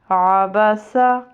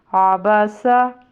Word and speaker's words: عبس: کی آواز آئے گی۔ عبسا آگے وقف عبس۔ ٹھیک ہے، آپ اس کو ریپیٹ کریں، اس کے ساتھ پریکٹس کریں، اسپیشلی عین کے تلفظ پہ تھوڑا دھیان دیں تو یہ اچھے سے